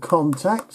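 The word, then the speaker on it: Kontakt: Now, I use one called Contact, and you can get that free.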